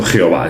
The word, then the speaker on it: Yahvé: transliteración de lo mismo, la manera como se pronunciarían 4 letras hebreas concretas, se puede pronunciar como Yahvé o incluso Jehová, es decir, es exactamente igual.